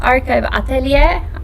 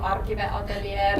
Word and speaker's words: Arkive Ateliér: Well, you can pronounce it like that, Yeah. or then you can say like we Finns do Arkive Ateliér. Yeah. That's probably the most easy one, but you can.